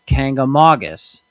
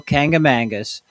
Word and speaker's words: Kancamagus: The proper way is Kancamagus, but I apologize if I slip into an occasional Kangamangus during this video.